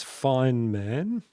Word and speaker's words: Feynman: Okay, pronunciation is Feynman.